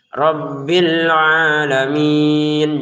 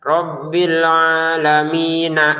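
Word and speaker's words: رَبِّ الْعَالَمِينَ: Rabbil alamin. Jangan sampai ada e-nya ya. Jangan sampai ada e di rabbil ini. Rabbil alamin. Jangan rabbil alamin. Agak ada e-nya di sini. Untuk ain panjangkan dua harakat saja.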